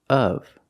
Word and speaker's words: of: The word is pronounced of. of The correct pronunciation of this word is of. Use the short sound like cup and up. It's closed. uh uh of And then the v sound, like very and van. v Together, of of.